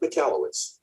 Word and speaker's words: Michalowicz: It's pronounced Mike Michalowicz.